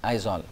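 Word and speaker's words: Aizawl: z over isol so you have to pronounce it as isol so state capital is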